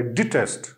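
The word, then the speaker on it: detest: इसकी प्रोनाउंसिएशन कुछ इस तरह होगी, डी आई टी ई एस टी, डिटेस्ट, ठीक है। इसकी जो है प्रोनाउंसिएशन इजी है, सिर्फ जो है फर्क इस चीज का है कि हमने डी के बाद आई जो है वो लगाई, डिटेस्ट, इट इज नॉट डेटेस्ट, ठीक है, इट इज डिटेस्ट।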